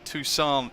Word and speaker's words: Tucson: good afternoon everybody welcome to uh better pronounce it correctly tucson in america in the united states uh k-t-u-s